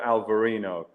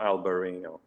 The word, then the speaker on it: Albariño: It is is native to Spain and uh but Portugal also grows the uh al they call it Alvarino, not Alber not Alberino.